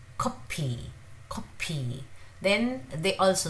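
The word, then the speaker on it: 커피: If you put your hand in front of your mouth, you can feel the air.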